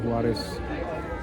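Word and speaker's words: Juárez: Itu namanya teatro teatro Huares. Tulisannya tulisannya Juares tapi kita bacanya Huares. Huares dengan H dalam bahasa Spanyol ya, Guys.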